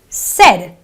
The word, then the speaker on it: said: this word as s it's not an a sound it is a e sound so it is a said an eh sound and